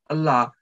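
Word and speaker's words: الله: then the lamb of allah letter word allah will be pronounced with the heavy sound and if the preceding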